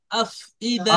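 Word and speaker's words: أفئدة: দেখেন এই আফ, ফার পরে হামজার নিচে জের আছে, বুঝতে পেরেছেন? তো জি হামজাটা জি অবশ্যই জি উচ্চারণ জি করবেন। আফ ইদা।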